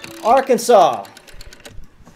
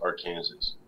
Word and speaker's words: Arkansas: are you from again Arkansas Arkansas wise Kansas pronounced Kansas but Arkansas isn't pronounced Arkansas I don't know why